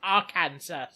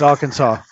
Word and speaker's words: Arkansas: That the only state that closes their presidential polls at 30 minutes past the hour isn't pronounced Arkansas. It's Arkansas.